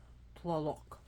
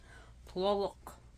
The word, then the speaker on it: Tlaloc: I am doing my 196th presentation, and it will be on the god Tlaloc.